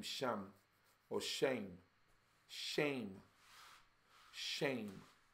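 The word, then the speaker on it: שם: the name Shem or shame. Shame. Shame. We say Shem because that's the English pronunciation, but I believe it's like shame.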